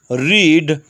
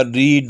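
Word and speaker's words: read: इसी तरह bid, broadcast, burst, cast, coast, cut, hit, hurt, knit, late, put, रीड। बस रीड के तलफ़ुज़ में फ़र्क होगा, रीड, रेड, रेड।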